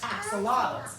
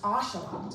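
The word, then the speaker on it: axolotl: Some people call them axelottals, but it's actually pronounced ashelots.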